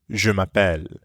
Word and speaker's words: je m'appelle: say my name is notice how it Blends together je m'appelle mapelle let's practice repeat after